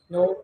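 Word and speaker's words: know: नो, के एन ओ डब्ल्यू, नो। नॉलेज, डब्ल्यू भी इसमें डब्ल्यू साइलेंट है।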